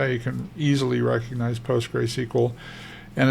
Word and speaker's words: PostgreSQL: you can easily recognize post gray SQL and it's pronounced gray gr like g r a y or GR ey you'll hear it pronounced postgress SQL like there's a second s in there I like language so